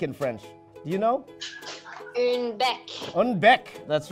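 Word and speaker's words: bec: French you know one Bek that's right it's like beak with an accent Bek that's right okay so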